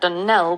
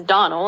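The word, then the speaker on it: Donnell: as often as not as for that Dell woman she'll get no delling from me I can assure you the name is Donal and always has been the woman is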